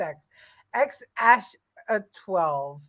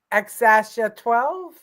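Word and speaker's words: X Æ A-12: thought it was just x x as 12 the x is pronounced like the letter X and the a is pronounced Ash xasha 12 okay thank you for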